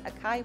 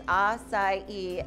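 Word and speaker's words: açaí: open one of those akai places i was like well the problem is you need to say it right if we're going to have one so i was like it's acai and so that's how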